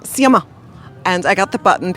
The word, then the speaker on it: Sciamma: How do you pronounce her last name? Céline Sciamma. Sciamma.